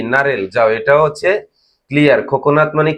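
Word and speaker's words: 코코넛: খোনাত মানে কি নারেল যাও এটাও হচ্ছে ক্লিয়ার খোকনাত মানে কি নারিকেল তাহলে আমরা বলি কোকোনাট ইংরেজিতে সেটা হচ্ছে এখানে কি খোকনাত কোরিয়ানি উচ্চারণ হবে কি খোকনাত বাংলায় কি হচ্ছে নারিকেল তারপরে কি আছে দেখুন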